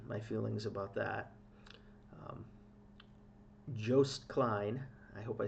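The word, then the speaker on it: Joost: feelings about that um Jo Klein I hope I said it right I had people correcting me Jo like ghost Klein with Europa uh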